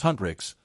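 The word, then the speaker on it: Huntr/x: Hunter/x, pronounced Hunrix, the girl group from the film isn't real, but you wouldn't know it.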